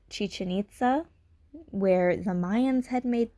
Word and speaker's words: Chichen Itza: There is a place in Mexico, and I think it's pronounced Chichen Itza, where the Mayans had made this pyramid shape,